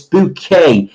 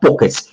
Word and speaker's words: Bouquet: whatever uh it's a it's bouquet it's not Bookers it's bouquet and if answer that